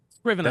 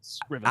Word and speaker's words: Scrivener: Scrivener with a hard I. Yeah, hard C, hard I. Scrivener. I practiced it 17 times before. Scrivener.